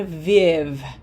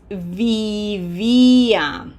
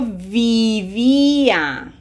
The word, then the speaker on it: vivía: The challenge here is making sure that we don't shorten these I's. Okay, this is not viv. This is vivia.